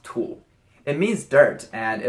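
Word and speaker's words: 土: a stick at the bottom and this characters pronounced tool it means dirt and it already kind of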